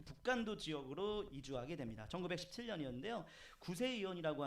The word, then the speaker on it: 북간도: 북한도? 발음이 좀 발음이 아니라 이상한데? 북한도? 예, 맞아. 북간도입니다. 우리 윤동주의 고향 그 교회가 청산리 전투를 막 지원했던 그 북간도 지역으로 이주하게 됩니다.